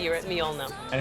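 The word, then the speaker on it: Mjølner: safely say you're at myonna and how am i pronouncing that uh basically swapped the j with an eye myonna myona yep nailed it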